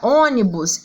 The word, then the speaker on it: ônibus: a palavra ônibus a palavra ônibus eu tenho a sílaba forte aqui ó no o e ele está acentuado